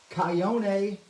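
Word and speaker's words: chayote: Kyone. Debbie said it's like coyote, but it's Kyone.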